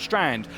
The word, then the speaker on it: Strand: And I do apologise because I've been referring to him as Stand, not Strand, for what is a good portion of this broadcast already.